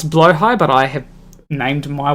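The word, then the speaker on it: Blåhaj: cuddling uh my uh so they pronounce blow high but I have named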